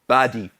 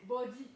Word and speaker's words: body: Comment vous prononcez badi? C'est comme le A du Elo, c'est body. Beau. Vous avez transformé tous vos A en O.